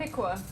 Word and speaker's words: Piqua: We're in Piqua. Piqua. Piqua. That's what they pronounced it as.